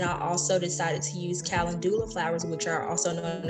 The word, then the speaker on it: calendula: So chamomile and calendula, did I say it right?